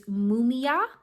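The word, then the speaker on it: Mumiah: So then you have this card, which is Mumia, is how you say this.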